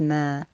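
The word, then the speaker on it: ما: Is the word that looks like a circle, linked to a dash, linked to a vertical line, and is pronounced as ma.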